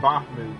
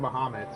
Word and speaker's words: Bahamut: until its capture of I keep saying bahm but it's pronounced bohamed capture of Bahamut its